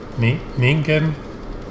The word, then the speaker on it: Ningen: he told me that their name is pronounced ningen i think it's pronounced issue and somebody told me